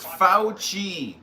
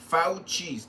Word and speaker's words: Fauci: His name is pronounced Fauci. Fauci.